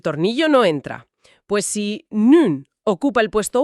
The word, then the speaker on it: nu: La palabra ahora se escribe nu y se pronuncia tal cual, nu.